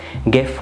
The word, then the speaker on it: GIF: جيف ولا جيف اختلفت طرق النطق بتاعتها والاتنين صح. اللي اخترع الفورمات ده نطقها از جيف والامريكان كان ليهم وجهه نظر تانية از جيف لان هي جايه من جرافيكس انترتشينج فورمات.